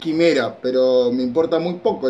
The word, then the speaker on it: Quimera: estuvimos probando la Operación Chimera, que estuvo impresionante. Ya sé que no se dice Chimera, se dice Quimera, pero me importa muy poco lo que piensen ustedes.